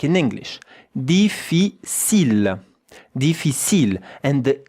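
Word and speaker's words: difficile: You know in French that ends with an e. Deficil. Look at how to pronounce it. Really easy. Three syllables.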